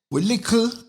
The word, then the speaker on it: lickle: As we say, we lickle. Yeah, that's the right thing. But what I'm saying, we lick. All right, we lickle, but we talawa. Lickle, just a bad pronunciation we have for little, for clarity.